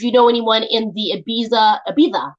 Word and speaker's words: Ibiza: If you know anyone in the Ibiza, you say it like that with a list.